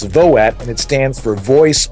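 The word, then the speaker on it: VOAT: the skinny on vote that's v-o-a-t that's not the November vote it's voet and it stands for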